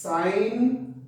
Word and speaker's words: sine: The full form of sine is sine. These are abbreviated forms. Please don't pronounce this as sin theta. It is sine theta.